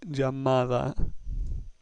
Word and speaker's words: llamada: The third word, llamada, ends with a vowel. We know that if a word ends with a vowel, the next to last syllable is stressed. So we have llamada.